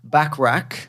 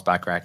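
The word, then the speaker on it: Bachrach: Torch and Ebon Moss backrack how do you say that back I'm saying backra backra like Bert backrack like Bert backrack uh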